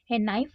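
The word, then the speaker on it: knife: इसी तरह है नाइफ, नाइफ के अंदर हम NIF जैसे पढ़ते हो वैसे बोलते हैं नाइफ, लेकिन उसके आगे क्या होता है, ये साइलेंट रहता है।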